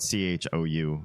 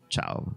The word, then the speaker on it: Chou: name because it's spelled c hou and in Mandarin if you saw that in pin pron or spelled out I would have pronounced that last name Cho not Chow but I heard him